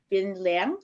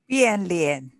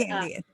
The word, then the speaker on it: Bian Lian: You also have face changing known as Bin Liang. How do you pronounce that, Kelly? Bian Lian. Yes. Okay. And Bian Lian.